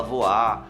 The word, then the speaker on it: Voir: Porque se escreve V-O-I-R e você fala voar e as pessoas falam errado. A gente ficou nessa coisa de decidir isso mesmo.